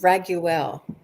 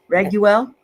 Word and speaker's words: Raguel: of him before and i think it is uh pronounced raguel raguel oh yes thank you raguel i like it because